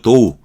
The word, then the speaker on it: dough: 자, 요거 DOU로 발음이 되죠. 도우. OU로 발음이 됩니다. GH는 발음이 안 되고요.